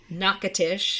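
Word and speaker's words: Natchitoches: absolutely they grew up in uh Louisiana yes nakatish nakatish yeah it looks it's next or something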